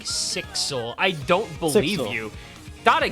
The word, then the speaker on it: SXL: SXL's name is said like 6L run together, like Sixel.